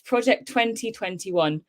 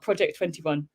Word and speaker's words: Project 2021: pronunciation of the project so it's project 2021 not project 21.